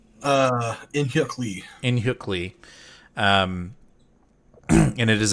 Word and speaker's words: In-Hyuk Lee: In-Hyuk Lee.